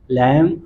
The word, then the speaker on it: lamb: Title है the clever लैम एंड the strong Wolff. क्या मतलब हुआ? क्लेवर मीन्स चालाक चतुर, लैम मीन्स मेमना। तो दोस्तों बी ए साइलेंट है।